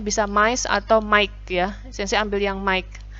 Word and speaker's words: Mike: Nah, pengucapannya adalah Mike ya, bukan Miche.